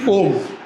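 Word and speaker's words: poem: हाँ, पोयम नहीं बोलते, एक्चुअली उसकी प्रोनाउंसिएशन होती पोम।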